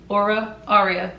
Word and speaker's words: Aura Aria: A lot of people don't know how to pronounce it, but now you do. It's Miss Aura Aria. Aura Aria. Get it right.